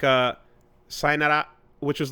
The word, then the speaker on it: sayonara: was so fast and it sounded like one or two sounds. One syllable. Sayonara. It was all like one thing. And I was like, oh, that's what it actually sounds like, depending on who you're speaking to sometimes.